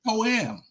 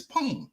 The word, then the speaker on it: poem: It's not poam. It's poem. It's a one word. It's a That's it. This one syllable word.